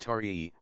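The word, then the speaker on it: Taë: The child, whose name was Te, pronounced Tarii, was the magistrate's eldest son.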